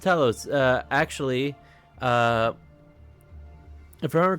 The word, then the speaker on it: Talos: I know it's I know foreign words sometimes just don't look and sound the same, but it is pronounced Talos.